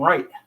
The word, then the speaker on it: Wright: That's my middle name, Wright. But I spell it with a W.